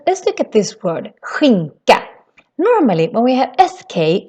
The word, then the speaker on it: skinka: The K on the other hand sounds more like a K sound here. So it's ka, skinka, skinka. That's how we say ham.